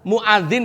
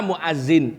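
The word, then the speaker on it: مؤذن: Muadzin dibaca muazzin. Apa artinya? Berubah.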